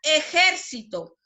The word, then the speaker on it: ejército: ¿Dónde lleva la mayor fuerza de voz? En la sílaba ger. ¿Alumnos? Entonces se tilda porque es una palabra esdrújula y lleva la sílaba tónica en la antepenúltima sílaba.